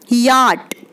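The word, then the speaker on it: yacht: और इसके अलावा एक सबसे इंटरेस्टिंग चीज़ है, एक वर्ड ऐसा है जिसमें सी एच साउंड जो होती है वो साइलेंट होती है और वो वर्ड होता है याट।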